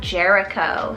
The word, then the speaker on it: Jericho: means village then speaking of places we have jericho spell r j-e-r-i c h o jericho and